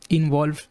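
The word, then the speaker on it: involve: To construct to more English words, इन्वॉल्व। ठीक है, इन्वॉल्व को ब्रेक करना भी काफ़ी सिंपल है। VOIN plus VOLV plus silent E लगा हुआ है, तो E की आवाज़ नहीं आएगी।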